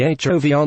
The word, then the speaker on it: HOVR: The HOVR name, pronounced HOVR, comes from the new foam cushion